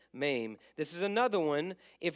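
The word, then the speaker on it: מם: special about it lamid you got ma not me ma rhymes with name maim this is another one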